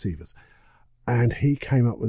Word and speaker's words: Sivers: guy called Derek Siver's I think his surname was pronounced severs and he came up